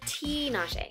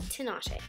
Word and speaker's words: Tinashe: My name is pronounced Tinashe, not Tinashe.